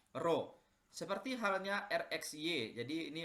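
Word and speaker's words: rho: ini ditambahkan dengan huruf seperti P ini tapi dibacanya adalah roh seperti halnya erection jadi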